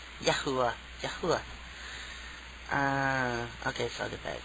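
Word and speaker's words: Yahuah: spelling uh y a h u a h yahuwah yahuwah uh okay further back now it's like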